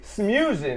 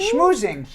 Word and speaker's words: schmoozing: Smoozing. Smoozing. Smoozing. I can't say that. Smoozing. Smoozing. It's Smoozing. like spitting. You're schmoozing.